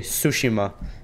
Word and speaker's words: Tsushima: the ghost of tush actually sushima because the te is silent I learned that because